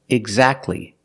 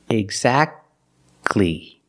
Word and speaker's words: exactly: it's between consonants examples exactly Christmas we see that t is between consonants so we don't pronounce it you don't say exactly exactly don't pronounce the T exactly you go from that